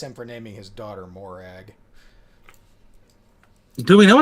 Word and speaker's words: Morag: girl's name in Scotland is it yes that's pronounced Morag yep and it is a traditional Scottish woman's